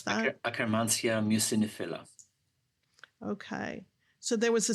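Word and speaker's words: Akkermansia muciniphila: How do you pronounce that? Akkermansia mucinifila.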